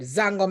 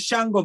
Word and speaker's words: Shango: I can't pronounce this word. Zango music. That is Shango music.